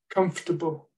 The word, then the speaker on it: comfortable: doing the round um I've put the missing syllable in small here comfortable because most speakers cut that syllable out comfortable vegetables um students need to know that at least for their listening if your students say comfortable with with the syllable that's not a not a problem they're intelligible but they certainly need to be aware of the fact that as listeners they'll probably not hear that syllable they also need to